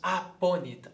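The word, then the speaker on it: apponit: e nós diremos então uma palavra que começa com A e depois vem dois P's, dando um tempo maior na pronúncia. Nós dizemos aponit, adponit.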